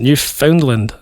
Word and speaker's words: Newfoundland: Is that how you pronounce it? New Foundland.